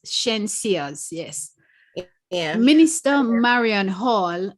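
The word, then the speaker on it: Shenseea: From the Star, the article says, Marion Hall rebukes Spice and Shensia's music. Is that how it's pronounced? Shensia's, yes.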